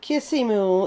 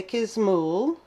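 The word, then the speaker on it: Kisimul: this is kismel castle kia's mole not kissy mool is spelled like it somewhat and if you see so i say kismull castle and this is a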